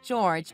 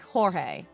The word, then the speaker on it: George: Mom must have read it out aloud like George, but I think your George is pronounced like Jorge.